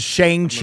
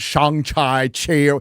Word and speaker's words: Shang-Chi: So we all said Shang-Chi. It's not Shang-Chi.